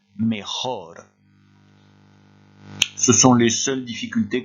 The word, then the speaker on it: mejor: Beaucoup d'entre vous auront la tentation de remplacer ce J par un Y à cause de mayor qui se trouve plus bas et à cause de la prononciation en français meilleur. Faites bien attention, vous avez ici un J et on prononce bien mejor.